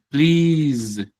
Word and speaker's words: please: También pasa en please. Please. Sí. Uno cree que es please, please, please con una s sencilla, pero esta s se vuelve z.